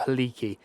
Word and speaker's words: Helike: Helic or Heliki is spelled Helike, so he-like, basically. I think it's Helic.